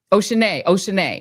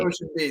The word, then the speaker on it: Oceana: Oceanae. Not Ocean B. That's what she told me. Oceanae. It's spelled like Ocean. Oh, you're right. Look, it's spelled like it sounds, kind of.